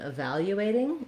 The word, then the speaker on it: evaluating: And then when I'm evaluating, again, I'm going to be stressing the vowel, second syllable, evaluating, and evaluation.